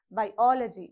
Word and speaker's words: biology: So you have to place the vertical bar before O, in between I and O. Okay, how do you pronounce? Biology, biology.